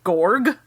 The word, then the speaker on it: Gorg: gave him a name his name is Commander gorg g o r g i don't know almost like you made it up yourself I didn't but I I didn't so it spelled like it sounds okay cool y cool